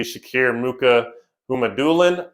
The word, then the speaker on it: Shakir Mukhamadullin: A notable prospect would be Shakir Mukhamadullin. I believe that's how you pronounce his name.